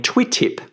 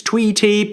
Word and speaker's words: Twitip: And I had all kinds of weird kind of pronunciations, tweetip and all kinds of things.